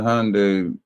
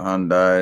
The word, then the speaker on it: Hyundai: There's a That's not There was a There was a Hyundai. Some people call it Hyundai. It's actually Hyundai, but whatever.